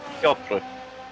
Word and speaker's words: Piotr: It just sounds like there's no R when you say it. I was just confused. R is silent.